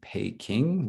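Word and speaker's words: Peking: reason right is because it was a voiceless stop but of course when you pronounce it in english we get this huge aspiration which is not there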